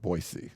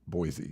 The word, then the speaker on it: Boise: you have to say I try to say that differently because they want Boise not Boise flat A's just sound horrible nobody should pronounce a flat